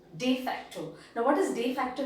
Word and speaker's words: de facto: is de facto and the pronunciation in latin is de facto de facto now what does de